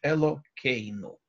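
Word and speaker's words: אלוקינו: Когда я просто говорю это слово «нечитое благословение», я произношу его, заменяя звук буквы «гей» звуком буквы «кув» – «элокейну».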